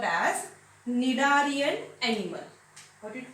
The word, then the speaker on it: Cnidarian: In this Cnidarian, the spelling started with C, but C is silent. We pronounced it as Cnidarian.